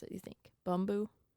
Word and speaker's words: Bumbu: A shout out to how do you pronounce it? You think Bumbu? Bumbu.